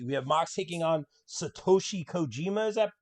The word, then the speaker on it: Satoshi Kojima: ma said moxie we have mox taking on satoshi kojima is that correct uh correctly pronounced attaboy that's it so again i'm not